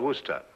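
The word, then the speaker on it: Worcester: else too doc but it's spelled w r c e s t e r where sister oh yes I see yes Lord Worster mhm his M be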